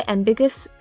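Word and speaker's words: ambiguous: इसको हम वैसे एम्बिगस प्रोनाउंस करते हैं। लेकिन हम इसको तोड़ते हैं साउंड में। ठीक है? एमबिग यू अस।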